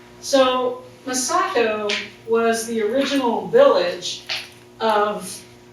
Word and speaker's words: Massaco: And of course, I'm from Cincinnati, so I always mispronounce words, and I used to say Massaco, because that just sounded right to me in my Midwestern kind of accent. But I've since learned, to kind of change the stress on the syllables.